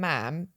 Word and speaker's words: ma'am: And I said, "Oh, if you just call them sir and ma'am, like rhymes with jam."